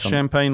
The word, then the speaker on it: Champagne: Is it Champagne like the French? Yeah. Philip Champagne.